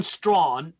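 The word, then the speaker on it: Strachan: canaanites of old and john strawn that's how you'd say his name uh scottish anglican he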